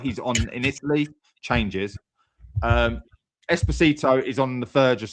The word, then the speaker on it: Esposito: By the end of the day, Esposito. Okay, Esposito.